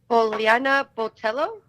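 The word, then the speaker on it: Poliana Botelho: How do you pronounce this girl's name you're fighting? Poliana Botello?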